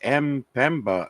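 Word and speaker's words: Mpemba: And the answer is thanks to the m.ame effect, and that's spelled M-P-E-M-B-A, the m.ame effect, hot water freezes faster.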